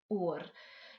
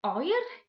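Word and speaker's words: oer: is cold in welsh or or you will also hear this word pronounced as oil in some places in wales but in south wales we do tend to pronounce it as or therefore that's what we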